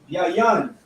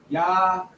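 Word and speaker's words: יין: You have to eat of the lamb, you have to eat of the unleavened bread, you have to drink of the yayan. Yayan.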